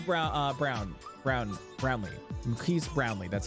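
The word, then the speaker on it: Marques Brownlee: his name Maris Brown uh brown brown brownley Maris brownley that's how you say I always get confused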